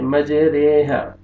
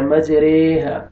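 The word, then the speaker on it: مجريها: یہ کے ساتھ، قطرے، اس کو آپ نے پڑھنا اس طرح ہے، مجریہا، مجریہا نہیں پڑھنے گے، اس کا تلفظ کیسے ہوگا؟ مجریہا۔ یہ ایک لفظ ہے جس کو اس طرح اس کو پڑھا جائے گا، مجریہا، مجریہا نہیں پڑھنا آپ نے، بس آپ نے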